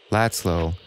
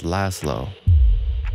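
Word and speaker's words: László: It is pronounced as Italians sometimes do, Laszlo, and not as Hungarians, with a soft S as Laszlo.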